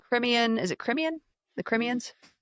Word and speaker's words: Crimean: The Crimeans? Crimean. Crimean Tatars. That's literally how it's said.